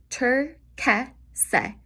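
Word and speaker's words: turchese: One of my personal favorite colors is turquese. Turquese. Turquese. So whenever you have a C-H-E or C-H-I, your C-H sounds like a letter K.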